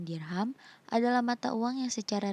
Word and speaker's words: dirham: Berikut ini adalah dirham atau dirham. Biasa diucapkan dengan dirham, adalah mata uang yang secara resmi digunakan dalam perdagangan di Kesultanan Samudra Pasai.